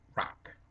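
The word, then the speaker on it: רק: the problem here the the word um rak and to get the pronunciation right thinking of it as written r a q it's a rarely used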